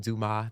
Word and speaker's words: Dumas: My full artist name is Dumas. The S is silent.